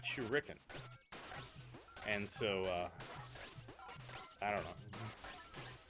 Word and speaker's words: shuriken: way my whole life I've never said shuriken it's always been shuken everybody knows said shuken